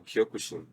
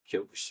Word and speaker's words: Kyokushin: which obviously I'm practicing, Shotokan is different from Kyokushin as well. Kyokushin is a bare knuckle, full contact form of karate. Okay. And as the name sounds, Kyokushin.